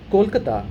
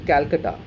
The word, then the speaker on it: Kolkata: Now, for example, when Britishers came to India, they do not have the and the in their vocabulary. They cannot pronounce those letters. So Kolkata became Calcutta and Delhi became Delhi because it is easy for them to pronounce like that.